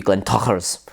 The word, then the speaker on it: Glentauchers: Glentauchers is also fine, but it is supposed to be Glentachers, as if you're saying kapla.